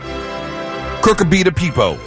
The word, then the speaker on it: Cucurbita pepo: Cucurbita pepo.